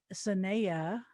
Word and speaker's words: Sahneyah: This evening, we will be moderating this event with our gorgeous guest, Ivy, and Ivy Sahneyah. That's spelled S for Sam, Ahneyah, Sehneyah.